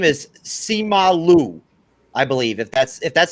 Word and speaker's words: Simu Liu: but his name is Simu Liu, I believe, if that's how you pronounce it. Grandmaster, is that right? Simu Liu. Okay. Yeah, it's an oo at the end, not a u. Simu Liu, right?